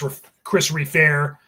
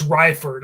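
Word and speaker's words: Reifert: And then of course Chris Reefair or sorry, Chris Ryford, I think is actually how you pronounce it on drums who went on to form autopsies.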